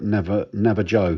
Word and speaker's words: Navajo: I know the uh the manufacturer used it for some reason called it na naaj Joe which always strike me as a bit odd but it was his